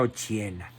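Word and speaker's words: Occhiena: se llamaba Margarita Ochiena, con doble C, se pronuncia Ochiena.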